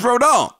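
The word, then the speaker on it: Rodón: off with Carlos Verdon now I looked up to the pronunciation of his name it is rhodon so Carlos Verdon him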